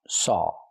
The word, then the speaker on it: saw: We don't pronounce the w. There's no w sound in it.